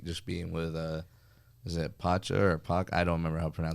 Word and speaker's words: Pacha: being with is it Pacha or Pac? I don't remember how to pronounce I the want to say name. it's Pacha. I remember Pacha? being close to Poncho. But Yeah. not quite Pacha, yeah.